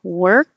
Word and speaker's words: work: these I'm sorry Olga work walk Were King Wah King so um same e work the vowel is er like her oh walk ah like